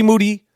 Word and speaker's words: Moody: no dunking from G moody last name rhymes with duty he will be back